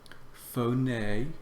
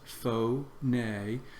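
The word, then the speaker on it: φωνή: Phone. Notice where the accent is. Phone. Its first word has 2 syllables.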